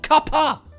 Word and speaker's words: cuppa: Not cup of tea. Cuppa. Cup of tea. It's a word. C-U-P-P-A. It exists.